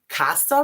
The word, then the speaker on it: cassia: And the base is, I don't know if I'm going to say this word right, cassia root. Brr. It's spelled C-A-S-S-I-A, root, vanilla sugar, and tonka bean.